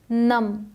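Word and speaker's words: gnu: आई जी N sign G एन यू को गनू नहीं पढ़ेंगे सिर्फ न बोलते हैं न जी साइलेंट है यह क्या है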